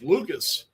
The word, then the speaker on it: Lucas: I keep calling him Luke's uh Gunnar because the way his name is spelled. I keep calling him Luke's. It's Lucas.